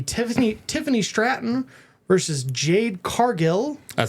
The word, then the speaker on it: Cargill: U, is it pronounced Cargle? It's Cargill. Okay. It's a double L at the end.